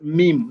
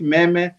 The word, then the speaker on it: meme: Meme is pronounced as meme, not meme.